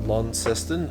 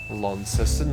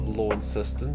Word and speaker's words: Launceston: but we've also met some lovely locals of lon seston i now know it's pronounced as launceston not lawn system despite the fact it's spelt like you know